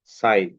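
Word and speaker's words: sign: এই যে এখানে আমরা এই সিম্বলটা দেখবো, এই যে হাই, সাইন। ওকে। আচ্ছা, সবাই একটু দেখো তাহলে। এটা হচ্ছে জি এর পরে যদি এন থাকে তাহলে জি এর সাউন্ডটা কি হয়? সাইলেন্ট হয়ে যায়।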